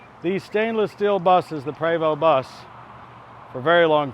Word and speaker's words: Prevost: It's not Prevost, even though it's an ST. It's a French-Canadian manufacturer. It's Prevost. Prevost!